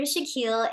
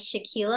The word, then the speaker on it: Shaquille: my name is Dr Shaquille and yes it is pronounced as Shaquille O'Neal I was born and